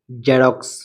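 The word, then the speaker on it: Xerox: E xylem xylem x ই আর ও এক্স জেরক্স জেরক্স এক্স ই এন ও এন জেনন জেনন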